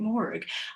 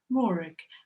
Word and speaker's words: Morag: Forget the rag and imagine looking at a book with a rook soften the K to a G. Morag.